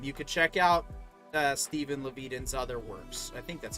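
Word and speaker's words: Levitan: I thought it was Sounds like Leviathan for the longest time, and then I realized there's no H or I or A or N.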